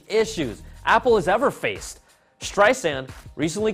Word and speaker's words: Streisand: Streisand recently called Apple CEO Tim Cook to complain that Siri pronounces her last name with a Z in the middle of Streisand, and it has annoyed Babs since its launch in 2011.